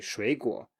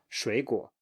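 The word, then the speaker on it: 水果: So you say 你好, 你好, 你好, 水果, 你好, 水果, 你好, 水果. So you take the pattern from one word you're very familiar with, and you transfer it to this new word,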